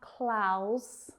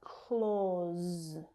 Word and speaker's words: clause: It's not clause, but clause. So the same vowel sound as in door.